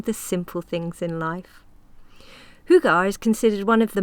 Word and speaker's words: Hygge: Hygge is how you pronounce the Danish word which is spelled Hygge.